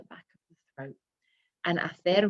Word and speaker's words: hacer: And hacer, remember we don't pronounce the H, so we've got hago, haces, hace, hacemos, hacéis, and hacen.